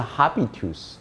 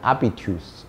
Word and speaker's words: habitus: 的呢叫 habitus，因为 h 通常不发音啊，所以不是 habitus 啊，所以应该念成 habitus 啊。